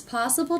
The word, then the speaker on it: possible: A lot of people ask me if it's possible to sound like a native speaker. If it's possible to sound. If it's possible to sound. So I notice the stress here. Possible. First syllable is stress.